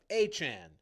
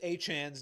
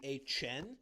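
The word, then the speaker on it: Achane: Travis Travis Achan's name looks like it would be Achen, which doesn't sound like how he pronounced it.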